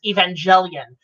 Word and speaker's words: Evangelion: seeing all the history with this show like Evangelion and how it kind of turned out like Robin Williams knew of the damn Joanie you mispronounced that is Evangelion how you know the same